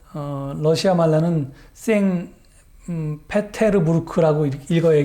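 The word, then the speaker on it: 상트페테르부르크: 겁니다 자 아 다음 그림은 그 러시아에 있는 쌩 피로 스 버그 라고 하는 곳 언어 시아 말라는 쌩 페테르부르크 라고 읽어야 게 뒤 될텐데요 어 그 잎이 os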